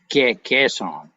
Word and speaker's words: Kaesong: casa here's it's really we've spell it with a k in america it's really a better spell with a g sort of g k song roger pronounced it just